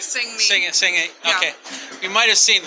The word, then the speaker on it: Sang-A: Did I pronounce that right? Sang-A.